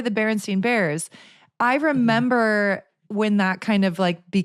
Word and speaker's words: Berenstain: I think it is still pronounced Berenstain Bears. It's just spelled S-T-A-I-N instead of S-T-I-E-N or I-E-I.